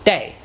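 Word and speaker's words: 茶: In Minanhua, the pronunciation of this character that means tea is day.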